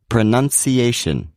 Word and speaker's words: pronunciation: secondary stress as well such as the word pronunciation it may seem as though this word has two stresses but the a is the main stress and the U is the secondary stress so once again that's pronunciation It's usually the longer